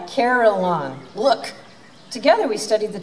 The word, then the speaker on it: carillon: in the american heartland three syllables rachel said is called a caroline look together we studied